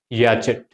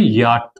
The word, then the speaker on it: yacht: Most of the times we have pronounced it as yachet, but it is actually simply yacht, or the sound is yacht.